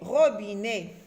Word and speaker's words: robinet: Alors, E-T se lit E. E-T, à la fin d'un mot, se lit E. Ro, r, oro, b-i, bi, robi, né, robinet.